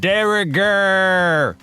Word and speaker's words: de rigueur: It's pronounced de rigueur.